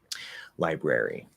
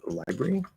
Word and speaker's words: library: of like this um the r links between the air and the e library you can reduce it to library uh especially in faster speech because we're not going